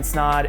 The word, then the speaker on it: Snod: My name's Snod, it rhymes with odd, and I'll see you in the next video.